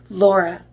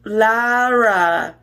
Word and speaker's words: Laura: and her pristine sister, Laura. Oh, sorry, pronounced Lara, as she would always tell people who weren't smart enough to speak.